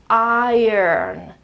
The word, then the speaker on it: iron: So the right pronunciation is, of course, there's I, which is the pronunciation of this first sound here, but then there's a schwa, I, and then an R that is not really pronounced, okay, it's just a sort of a presence, okay, up here, a small R that is not completely, not fully pronounced, and then the N. So the pronunciation is iron, iron, iron.